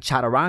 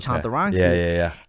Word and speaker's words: Chantarangsu: first end and cuz she was saying Chadarangu instead of Chantarangu."